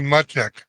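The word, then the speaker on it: Macek: don't know what now my last name is m-a-c-e-k how did you guys pronounce that it's close but it's muchek yes uh-huh you're my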